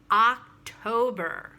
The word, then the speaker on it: October: is october not october open your mouth stress the first syllable october good and finally but